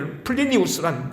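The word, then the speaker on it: Plinius: 이 플리니우스 2세는 혹은 플리니 이건 영국식 발음이고 로마식 발음은 이제 플리니우스란 총독인데 이 사람은 역사적으로 시인이었고 편지를 잘 쓰는 사람으로 유명한 사람입니다.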